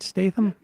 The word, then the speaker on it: Statham: Jason Statham did I say his name right Statham yeah you're right the action yeah star Saul